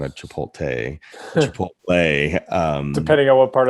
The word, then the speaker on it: chipotle: just recorded myself i think it was a chipotle not a chipotle chipotle um depending on what part of the south